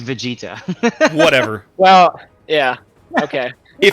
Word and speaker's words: Vegeta: as well yeah free afraid not okay it's pronounced vegeta whatever well yeah okay if i watched it